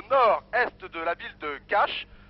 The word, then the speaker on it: Kaş: Je suis à Yavigoyou, au nord-est de la ville de Kaş. On dit Kaş, mais ça s'écrit K-A-S avec une cédille en dessous.